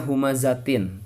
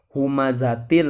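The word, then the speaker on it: هُمَزَةٍ: dengan huruf lam nah jangan dibaca humazatin tapi harus dibaca humazatil lumazah Tin kenapa harus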